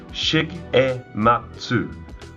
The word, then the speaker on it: Shigematsu: Okay, first up, who is Shigematsu? Well, they're Japan's leading respiratory manufacturer. They've been in operation for over 105 years. If you're having trouble with the name, it's pronounced Shigematsu, or STS for short.